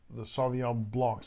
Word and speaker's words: Sauvignon Blanc: And she really enjoyed the Sauvignon Blancs. I pronounced that right?